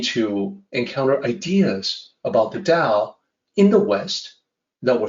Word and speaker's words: Tao: I hear people pronouncing Tao, the Tao of this or that, Taoism, Taoist, and I would not hesitate to say that, well, it's actually Tao with a D sound, not a T sound.